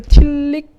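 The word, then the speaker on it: Tillich: 이 저기 폴 틸릭 뭐 아마 다른 데서는 폴 틸리 뭐 이렇게 불리는 사람이 있어요. 이게 이 사람이 그 독일계 같아요. 그 틸리히라고 읽으면 독일 발음이거든요. 그러면 앞에 폴도 파울이라고 읽어야 돼요.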